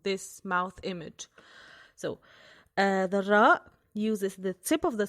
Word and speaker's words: ر: Ra is sort of like the counterpart of the English letter R, but it is closer to the rolling Spanish Ra, Ra, Ra.